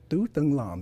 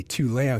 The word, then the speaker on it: Tu Lam: And my name is pronounced Tu Lam in Vietnamese, right? But I say Tu Lam, so you guys don't mess up my Vietnamese name.